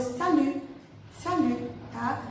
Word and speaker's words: salut: E a gente observa que o T no final não é pronunciado.